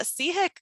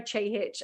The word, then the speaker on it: Chehich: Sorry, Christina, I didn't tell you how to pronounce my surname. That's my fault. It's Chehich, and thank you so much.